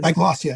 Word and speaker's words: diglossia: Let's wind back to something I think you mentioned at the very start, which is, I'm probably going to mispronounce it, diglossia, I believe it is. Diglossia, yes, diglossia.